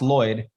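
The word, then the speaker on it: Lloyed: d Lloyd it's pronounced Lloyd but my mom threw an e in there and I asked her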